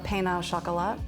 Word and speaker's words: pain au chocolat: do you say the French word it's a pain au chocolat i'm gonna call it chocolate sauce that's good